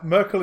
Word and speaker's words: Myrkul: Anyway, Merkel is spelled Myrkul. Myrkul. Okay, yeah, nothing like Angela Merkel.